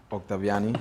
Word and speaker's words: Octaviani: you to introduce yourself my name is octaviani I'm glad you said it right um I